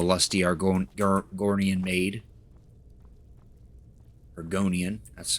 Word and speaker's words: Argonian: haven't found the lusty are going gornian made argonian that's how you pronounce it we'll find that book eventually why